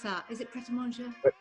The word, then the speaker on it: Pret A Manger: How do you pronounce that? Is it Pret A Manger? Pret A Manger, yeah.